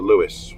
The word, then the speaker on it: Luas: I'm now, we have an interesting transportation system in Dublin, which is relatively recent, and it's called the Luas. It's spelled L-U-A-S, and there's a bridge in Dundrum.